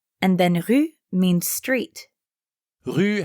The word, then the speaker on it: rue: then rue means street rue has the same u sound that you hear in rue hotel also as you might